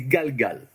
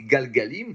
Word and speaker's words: גלגל: va revenir souvent, c'est galgal. D'accord? Alors, galgal, c'est intéressant parce que ça fait partie de ces mots hébreux qui sont des mots où il y a une syllabe qui se répète deux fois.